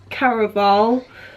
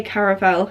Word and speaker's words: Caraval: I pronounce it wrong. It's Caraval, but I'm not American, so I say Caraval.